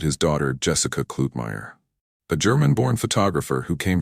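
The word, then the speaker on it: Kluetmeier: Mr. Klutmeier, pronounced Klutmeier, shot generations of American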